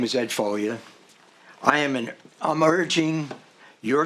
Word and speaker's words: Foglia: that correct i hope it's pronounced folia the g is silent oh it means foliage like in italian and uh now if